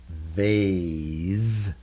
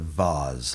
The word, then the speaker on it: vase: developed different ways but in most cases when you see the e at the end what happens to the